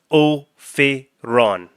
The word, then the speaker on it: Ophiron: why Just I decided at the very start of this one to have pronounced Ophiron.